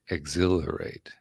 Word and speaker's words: exhilarate: Anticipate, exhilarate. Okay, we're getting so. Exhilarate. Yeah, And that's the way it bounce it up feels to and me. down. Okay. Anticipate, exhilarate. So emphasis on the second syllable.